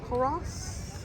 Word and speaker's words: Culross: Coros.